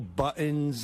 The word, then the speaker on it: buttons: Buttons. Buttons, mugs, pencils. What is he saying? Why doesn't that sound right? It's buttons. T. You got to say a T.